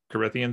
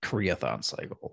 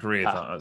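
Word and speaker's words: Karaethon: and then you were mentioning the I'm gonna pronounce it wrong the Kian cycle how do you say it is that it was something like Kian in the audio books it's kathon cycle kathon so Justin in the books they will very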